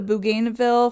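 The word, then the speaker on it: bougainvillea: She was credited for discovering, it's pronounced the bougainville flower.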